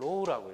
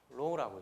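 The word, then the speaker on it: ρ: 이렇게 쓰고 이거 읽기를 로우라고 읽습니다. 로우라고 읽어요.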